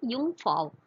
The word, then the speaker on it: Jungfrau: So German pronunciation அதுதான் Jungfrau.